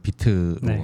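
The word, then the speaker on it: Vite: 예 비트가 이제 그 VI 이제 발음은 비트로 하는데 이제 개보 계보라 하게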